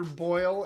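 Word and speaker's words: Boyle: in Young Frankenstein too that plays that's Peter boil and it's spelled a completely different way is it his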